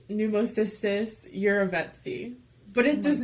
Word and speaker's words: jirovecii: Some dude, I think it's Switzerland, and you pronounce his name Eurovets, and so it was named after him, so it's Jirovecii.